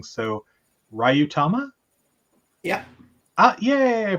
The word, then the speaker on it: Ryuutama: We'll also discuss, and I'm going to pronounce this wrong, so Ryutama? Yeah. Yeah, I pronounced it right.